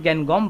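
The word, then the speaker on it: Ngangom: ठीक है, इसमें एन साइलेंट है, इनका नाम है गैनगॉम बाला देवी।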